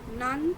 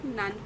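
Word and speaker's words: なん: कुछ कहना है ओके तो नान तो मस्का यहां पर नान क्यों कह रहे है करेक्ट क्योंकि यहां पर यह त की सीरीज यूज हुई है त त वाला वर्ड आया है नान को फॉलो करते हुए इसलिए इस यहां पर हम नान करके प्रोनाउंस कर रहे करट इ इट इजी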